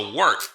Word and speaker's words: Wort: It's pronounced the Wort. What is it? The wort? Yeah, okay, I'll do that again. This is the Wort on Gubs Radio. It is the Wort. Not warts, not forts, not short.